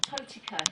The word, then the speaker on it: Totika: And how do you say that? Totika. IKA.